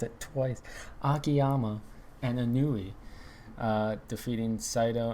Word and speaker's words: Akiyama: to retain oh my gosh i cannot speak akiyama oh my god i just mispronounced it twice akiyama and anui uh defeating saito and segura hanma